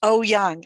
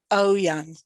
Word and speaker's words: Eoyang: pronounce my last name it's pronounced oh young as if it were irish oh young it's a chinese name